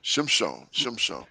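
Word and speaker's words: שמשון: Shimshon. So that's how you say it in Hebrew.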